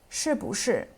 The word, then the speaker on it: 是: verb structure, so 是不是, 是不是, or by adding 吗 at the end of a statement. 是 is pronounced in the fourth tone, 是, 是.